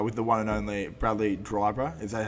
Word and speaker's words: Bradley Dryburgh: Today, I'm here with the one and only Bradley Dryburgh.